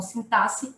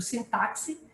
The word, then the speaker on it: sintaxe: questão de sintaxe né Alguns falam sintaxe ou do sintáxi é umas duas pronúncias também estão corretas e se referem a